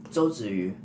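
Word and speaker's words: 周子瑜: You should know how to pronounce her name. Zhou Ziyu.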